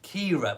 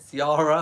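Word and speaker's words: Ciara: booked big storm called Kiera well it's it's been pronounced in the media as Kiera but it's spelt C I a ra I might probably said Sierra or something like that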